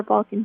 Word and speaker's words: Balcaen: Instagram handle the Balkan pen my last name is spelled b-a-l-c-a-e-n and then Ken at the end time's running out so